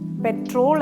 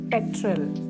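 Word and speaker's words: petrol: syllable ആണ് ഗരാജ്പിഇടിആർ എൽ പെട്രോൾ അല്ല രണ്ട് syllable ആണ്ഉള്ളത് പെട്രൽ stress on the first syllable പെട്രൽ repeat after me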